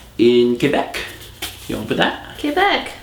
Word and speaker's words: Quebec: Quebec. Thank you for pronouncing it correctly. The French way.